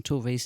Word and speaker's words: Tove: I can't give the definitive, but having hung out with Sophia Jansson, Tove's niece, she's always said Tove.